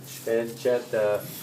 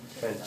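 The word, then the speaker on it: pancetta: Petta. The way you pronounce an Italian word with two T's, it's almost like you have a stop in between the T's. Petta.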